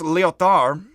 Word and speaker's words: Lyotard: This is pronounced Lyotard. You can say Lyotard, to be a real jerk if you're Anglophonic like me. You don't pronounce the D on the end.